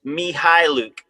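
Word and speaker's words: Mykhailiuk: The the K is silent. According to the official Thunder Press Guide pronunciation, it's Mihil.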